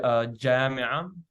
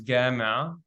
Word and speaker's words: جامعة: And so the word jami'a for university becomes gami'a. And then some people will even pronounce it like a gya sound, which is found in Sudan.